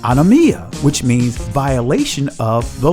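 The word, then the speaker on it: ἀνομία: of iniquity the Greek word for iniquity is pronounced on amia which means violation of the law wickedness transgression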